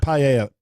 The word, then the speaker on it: paella: Paella. Pie. It's called paella. Paella. Okay. That's how it's pronounced.